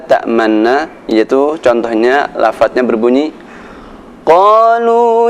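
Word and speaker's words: تَأْمَنَّا: Ada sedikit monyongnya ketika kita membaca lafaz la ta'manna, yaitu contohnya lafaznya berbunyi Qalu ya abana ma laka la ta'manna ala Yusuf.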